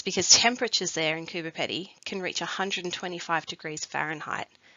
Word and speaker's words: Coober Pedy: You might hear people say Coober Pedy, but as we hear in the video, Coober Pedy is actually closer to the original pronunciation.